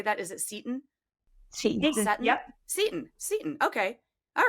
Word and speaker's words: Seton: Seton. Seton? Yep. Seton. Okay. All right. See, because I pronounce everything wrong, like Marin County, all of the things.